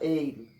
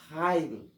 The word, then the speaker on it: Heil: Daí esse Eil não se pronuncia Eil, se pronuncia Heil.